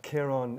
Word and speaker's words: Kieran: I've been called many names since I left Ireland, but Kieran is the correct pronunciation.